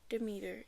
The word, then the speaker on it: Demeter: Demeter. Deer. Demeter.